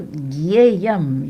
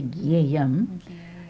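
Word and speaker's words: ज्ञेयम्: Also, Gyeyam, you hear me say Gyeyam. It's written Gyeyam. And that is because that's too hard. Different parts of modern India pronounce that combination, Jia, in different ways. We follow North Indian style.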